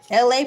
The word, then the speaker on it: LA: My name is LA, pronounced like LA, like the city.